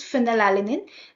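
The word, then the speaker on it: phenylalanine: F from the pronunciation if you pronounce phal alinin the sound is like f so it is f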